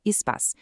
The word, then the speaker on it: SPAS: E para ouvir mais conteúdos como este, é só procurar no Spotify pelo podcast Descomplicando a Saúde com o SPAS, se pronuncia ESPAs, que é a nossa plataforma de benefícios, combinado?